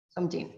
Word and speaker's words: Seunjin: Vamos, Seunjin, ¿está bien pronunciado? Sí, Seunjin, ok.